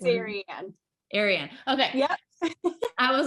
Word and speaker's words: Arie Anne: Ariana? Ariane. Arie It, Anne. What is it? it's What is Arie Anne. Arie Anne.